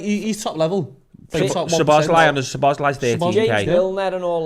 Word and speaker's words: Szoboszlai: Whereas your Slobzai, what do you call him? Szoboszlai.